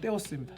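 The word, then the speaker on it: θεός: 요게 th 번데기 발음 테오스입니다.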